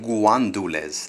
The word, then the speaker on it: gandules: You see there it's spelled in Spanish gandules verdes, green pigeon peas. But for some reason, the Dominican side of my family, they call it guandules. They put a U in between the G and the A.